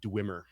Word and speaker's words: Dweomer: has an alternate spelling that would definitely be pronounced this way. I'm going with Dwemer. So we're calling it a Dweomercat.